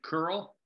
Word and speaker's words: Kearl: His name is Troy Curl. Last name is spelled Kearl.